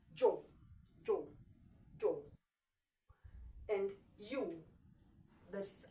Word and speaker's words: yo: So yo is pronounced as jo.